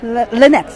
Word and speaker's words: Lynex: Lynex.